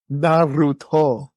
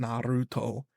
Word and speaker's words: Naruto: Brett do I like Naro I believe it's pronounced Naro it is pronounced Naruto do I like Naruto I believe so okay